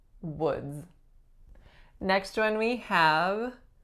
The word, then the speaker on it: Woods: we have was woods not too tricky other than the vowel o which is actually a really tricky battle so woods final sound is a Z woods next one we have